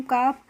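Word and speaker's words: calf: एक रूल होता है जब भी किसी वर्ड में एल के बाद एफ आता है तो वहां पर हम एल का प्रोनाउंस एशन नहीं करते हैं तो इसको हम क्या पढ़ते हैं काफ पढ़ते हैं इसीलिए और काफ का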